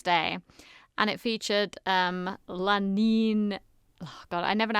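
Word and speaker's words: Lananeeneenoonoo: on Red Nose Day and it featured um Lanin God I never know how to say this Lana Nini Noo-Noo that's it which was a spoof band of Dawn French Jennifer Saunders and Kathy Burke.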